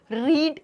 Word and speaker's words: read: get, got, got, light, lit, lit, leave, left, left, meet, met, met, रीड, रेड, रेड। ये कैसा रेड है? रेड colour वाला sound करता है, जिसके स्पेलिंग सेम रहते हैं, रीड, रेड, रेड।